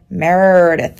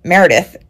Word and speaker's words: Meredith: an accent here and Americans when you get to an R you really love an A so you tend to pronounce my name Merith like you you elongate the a sound so when I say Meredith it doesn't always translate um and I will